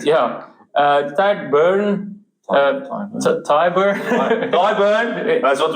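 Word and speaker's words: Tadhg: Tad Furlong. He's Ty Furlong. Ty Furlong. Sorry.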